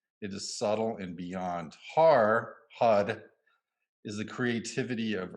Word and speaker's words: har: the in my manual it's spelled h-a-r but when you say har it's actually you say it like hud sounds like hud but it's hard but when in gurmukhi when you're really uh enunciating it it comes out as hud all right now uh